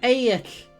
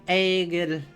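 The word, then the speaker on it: Egill: Yeah, Eik is how you actually pronounce it. So the G is not pronounced. It's a semi-vowel. And the double L is a k.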